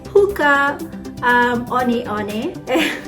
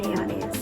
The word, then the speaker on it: Hoka One One: check it out at the website it's called hookah um oni it's spelled one one but it's onions here i'm happy so i can't wait for